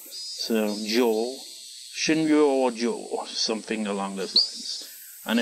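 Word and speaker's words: 診療所: Butchering their pronunciation, but Shinryo-ji. No. Shinryo-jo. It's a bit confusing. Shinryo-jo, actually. It's she, then it's re, but it's got a little yo, so that turns re into ryo.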